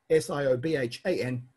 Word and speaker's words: Siobhan: So BH and MH are both just V. Yes, S-I-O-B-H-A-N, Siobhan. The O is really there to tell you that it's a broad V sound.